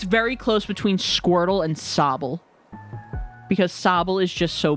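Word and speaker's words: Sobble: Honestly, it's very close between Squirtle and Sabble because Sabel is just so baby. When that Pokémon came out, I was like obsessed with it. Plus, it rhymes with Bobble, so you know.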